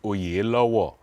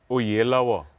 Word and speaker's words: Oyelowo: how do you properly well the Nigerian correct pronunciation is all year low war you think you see you see that's why we need to leave it alone I guess do it again o year lower Oh yellow there are Nigerians all over the